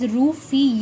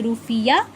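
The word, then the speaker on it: rufiyaa: its currency is undoubtedly rupee but it is pronounced as roofie yeah okay and the currency of this country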